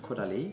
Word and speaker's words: Caudalie: Och sen då, hur uttalade man det här? Caudalie. Caudalie, man säger så.